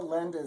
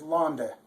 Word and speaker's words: Lande: This says, alle Länder sind. That's not true. The real words to the song are, alle Lande sind. Seine Ehre voll. Hosiana in der Höhe. Gelobt sei der da kommt. Im Namen des Herrn. Hosiana in der Höhe. So this is how it goes. The thing that's wrong in the text is the real word is Lande.